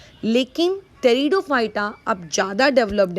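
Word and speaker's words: Pteridophyta: अब उसके बाद आते हैं हम लोग हमारे तीसरी कैटेगरी में, दैट इज़ टेरिडोफाइटा। टेरिडोफाइटा की जो स्पेलिंग है उसमें पी क्या है आप लोगों का साइलेंट है।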